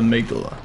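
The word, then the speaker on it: Amygdala: now I'm aala here and I know it's pronounced the migula because that's the actual thing he's an interesting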